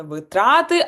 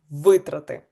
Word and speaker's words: витрати: І пам'ятаємо, що не витрати, а витрати. Тому відповідь Г.